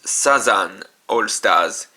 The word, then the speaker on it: Southern All-Stars: Next is the Nyan All-Stars Medal, which is a yokai unit whose name is a parody of Southern All-Stars, which is pronounced as Sazan All-Stars in Japanese.